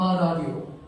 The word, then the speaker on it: 아라리요: 근데 무슨 법칙이라고요? 연음 법칙. 그것 때문에 들리기는 발음은 이렇게 하는 거예요. 아리랑 아리랑 아라리요.